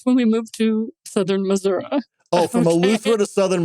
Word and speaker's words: Missouri: So even the state can't decide what is the most appropriate, but legally, it's Missouri. We're too poor to even pronounce the I.